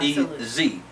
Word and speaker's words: EZ: so it's actually pronounced it's actually called the E uh the alphabet e in the alphabet Z right so it's not e-a-s-y but it's e z e z needle multi-threader